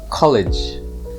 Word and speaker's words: college: to to study and it's pronounced with a soft g so it's college meanwhile colleague is a